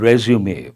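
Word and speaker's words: résumé: And actual pronunciation of that particular word, resume. It's a French word, resume, but now people say resume.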